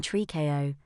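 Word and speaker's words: tricot: like a little girl nylon Trico pronounced nylon tree KO a relatively new and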